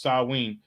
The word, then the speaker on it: Samhain: Right, but it's pronounced Samhain.